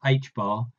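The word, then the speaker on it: ħ: Assuming that for the electron, the product mvr equals nh bar, where n is an integer and h bar, pronounced h bar, is a constant, find an expression for the electron energy in terms of n.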